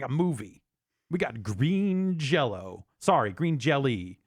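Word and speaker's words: Green Jellÿ: a movie we got green jello sorry green jelly apparently it's still pronounced during jello even though the change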